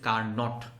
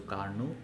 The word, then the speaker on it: Carnot: বললাম এই স্পেলিংয়ের মধ্যে টি আছে, বাট ওখানে pronounce it you make sure that T is silent here, so you have to pronounce it as Carnot, not T is silent, so Carnot engine.